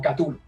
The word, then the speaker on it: Cthulhu: Porque según Lovecraft necesitas ser como un dios extraterrestre para pronunciar bien su nombre, así es como Chulu, ¿cachai? Pero popularmente se le dice como Cthulhu, es como Cthulhu.